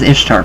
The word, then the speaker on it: Ishtar: goddess is ishtar so this is ishtar pronounced easter easter was originally the